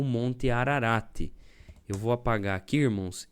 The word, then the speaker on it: Ararat: É que no hebraico quase não pronuncia, né? Esse t. Então é ararat, né?